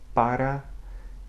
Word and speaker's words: para: Para, Ironia, Cereja. Okay? Now, when it begins a syllable in a cluster with another consonant, such